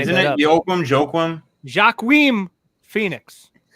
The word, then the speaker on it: Joaquin: Joaquin Phoenix. How do you say his name? Joaquin.